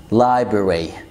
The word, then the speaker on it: library: تالت كلمة library library library ما تنطقش الار تاني اللي في النص، انت الار واي في الاخر.